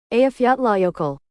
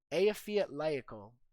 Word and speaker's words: Eyjafjallajökull: Eyjafjallajökull. Eyjafjallajökull. So the community consensus is Eyjafjallajökull, Iceland, place in Iceland that we looked up here.